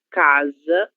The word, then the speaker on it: casa: Então, no caso dessas palavras, elas devem ser lidas da seguinte forma: analisar, zar, zar, desejo, desejo, lacalerbra, casa e no caa, sino que casa, surpresa, casual, ansioso, zu.